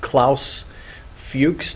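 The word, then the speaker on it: Klaus Fuchs: the uh the rosenberg's um physicist scientist K Claus fuches notice the spelling and the pronunciation there Claus fuches confirms that he had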